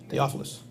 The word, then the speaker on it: Theophilus: Is that how you pronounce it? Yeah. Theophilus.